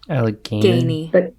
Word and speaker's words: Allegheny: Allegheny.